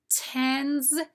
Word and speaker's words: tens: Read the words tens, tense. Now you probably noticed the S says Z in tens, t-e-n-z, and the S says S in tense, t-e-n-s.